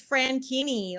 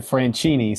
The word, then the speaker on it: Franchini: It's Franchini, like zucchini. Zucchini. Ooh. And I totally would have said Franchini. So I totally. That's why I do like the Franchini zucchini thing.